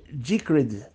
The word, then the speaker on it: Decred: Seguinte, a pronúncia certa é Decred.